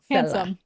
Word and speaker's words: Hansum: When I saw this username, I was like, oh, it's spelled like what? HANSUM. Handsome.